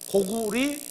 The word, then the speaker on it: 고구려: 그리고 그 앞서 있던 나라는 고구려. 근데 그 려가 아니에요, 원래. 고구리, 고리예요, 원래.